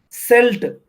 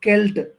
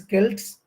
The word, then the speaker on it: Celt: c s JV you should remember this term selt or we we pronounce it as kelt Kels generally the pronunciation is Kelts the Kels are the first tribes first of